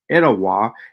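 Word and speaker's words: Etowah: Theory the theala or ET pronounced today as etawa is a Mosi Creek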